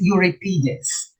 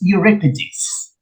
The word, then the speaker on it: Euripides: first syllable sophocless and euripides i used to pronounce this europeans but the correct pronunciation is euripides okay so the correct answer here is homer